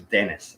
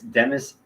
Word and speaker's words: Demis: I thought it was Dennis. So, anyways, it's Demis Hassabis.